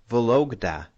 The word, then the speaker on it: Vologda: So you see a Kremlin in a town called Vologda.